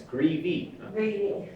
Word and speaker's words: Greevy: stated your name and it's greevy two syllables uh and you're august